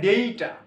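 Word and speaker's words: data: actually কারণ এ মিনা আমারে নয়তো এ লিখা ডেইটা ডেইটা ডেইটা নোটের একচুয়ালি উচ্চারণ ডেইটা ডেইটা নোটে এ মিনা নোটেড হবে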